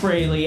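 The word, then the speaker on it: Frehley: It's pronounced Brayley. I hate that, but Ace Freely.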